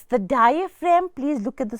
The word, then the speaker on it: diaphragm: It's the diaphragm.